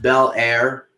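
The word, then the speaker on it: Belair: know and by the way uh billy it's pronounced bel air for the record as as in fresh defensive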